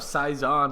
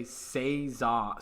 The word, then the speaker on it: saison: lagger thing before so pronunciation of saizon seon not sure why but it really drives me crazy crazy when people say seon son it's or seizen I've heard seizen yeah uh can you